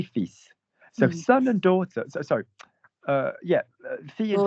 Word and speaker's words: fils: Likewise, the word for son ends in an S. You should normally in French not pronounce the consonants at the end of the letter, at the end of the word. But because it comes from Latin, like filius and all this business, we say fils.